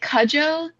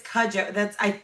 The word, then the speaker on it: Cudjoe: is it Cujo? Because I was like, you're in Cujo Bay? Ah, because the dog Cujo, you know. Yes, But no, it's Cudjoe. That's how they pronounce it anyway.